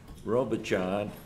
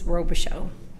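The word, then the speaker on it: Robichaud: pronounce your name wrong it's robish show robish show okay uh thank you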